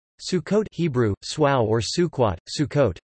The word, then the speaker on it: Sukkot: Sukkot Hebrew soir or Sukhois Sukkot commonly translated as Feast of Tabernacles traditional Ashkenazi pronunciation Sukkos or suckas also known as chang-ho